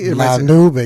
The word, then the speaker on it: La Nube: Pronounced La Nube? La Nube, yeah, which means, it's cloud.